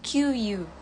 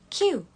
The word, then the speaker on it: queue: Yang keempat itu, nah ini artinya antrian, tapi banyak banget yang aku dengar nyebutnya QU. Sebetulnya ini dibaca Q. Jadi huruf belakangnya tuh nggak dibaca, cuma huruf depannya aja.